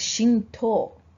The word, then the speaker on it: Shinto: a way of the god that's track is Shinto okay Shinto unfortunately spelled with T oh you okay without the ten